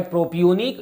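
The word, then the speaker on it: propionic: प्रोपेन oic acid है, तो दोनों में प्रोनाउंसिएशन का अलग अलग है, ध्यान देना इस पर, ये है प्रोपियोनिक, ये है प्रोपेनोइक, ठीक है ना।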